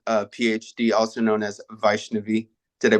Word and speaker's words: Vaishnavi: Mary Roberson, a PhD, also known as Vaishnavi. Did I pronounce that correctly?